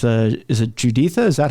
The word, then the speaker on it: Juditha: process of leaving it's it's uh is it juditha is that how she pronounces her name yes okay she the mother